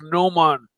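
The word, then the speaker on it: gnomon: what does that mean it's pronounced n man n man side let's have a look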